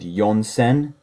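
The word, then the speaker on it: 四千: then we continue again with yonsen I've never heard she sen in my life I would definitely stick to yonsen and then the rest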